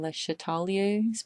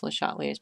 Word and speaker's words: Le Chatelier: This video is about the topic Le Chatelier's principle, or I think you're supposed to pronounce his name Le Chatelier's principle.